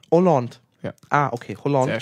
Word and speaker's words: Holland: bitte Hand Holland ne das H ist stumm Holland ah okay Holland ne Oland Oland ja ah okay Hand